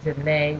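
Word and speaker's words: Zhané: So they really like soul music, and and I heard Janae, which is spelled Zhane, if you remember them.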